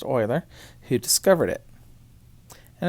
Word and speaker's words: Euler: e because it's named after leonard euler it's pronounced euler who discovered it and it's found by putting